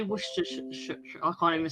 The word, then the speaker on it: Worcestershire: And the way you say Worcestershire, I can't even say it, but Worcestershire.